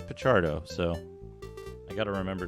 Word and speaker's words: Picardo: I know like um hippolito picardo or picardo um he says picardo so I got to